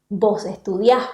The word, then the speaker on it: estudiás: La sílaba final es siempre la sílaba que va a sonar más fuerte porque se trata siempre de palabras agudas.